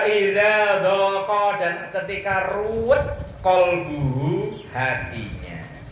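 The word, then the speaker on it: قلب: Wa idza dhaqa dan ketika ruwet qalbuhu hatinya. Qalbun hati, kalau kalbun, nah makanya bacanya qalbu.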